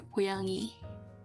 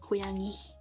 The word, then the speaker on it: 고양이: if you were to translate cat, it would be 고양이. That's how you say it, 고양이. And because I live in an area where we have a little accent, and we in the regional term we just say 괭이.